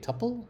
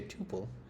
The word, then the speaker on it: tuple: Some say tuple, which rhymes with supple, but in the context of programming, most people say tupil, which rhymes with quadruple.